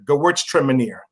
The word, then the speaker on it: Gewürztraminer: It's called Gewürztraminer. Gewürztraminer. It's spelled GEWURZTRAMINER.